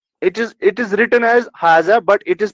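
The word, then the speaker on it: هذا: it is written as haza, but it is pronounced as like this, ha za.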